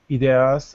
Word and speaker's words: ideas: time, they gain new ideas and insights and learn from the experiences of others. Just repeat one word. Ideas. Ideas. So you're saying id, but it's I.